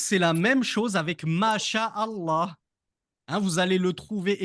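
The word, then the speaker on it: ما شاء الله: ma sha Allah mais quand je lis correctement en arabe je dis mas Allah la première lettre du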